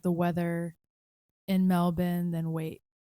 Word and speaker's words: Melbourne: Some of you guys might pronounce it Melbourne, but it's actually Melbourne.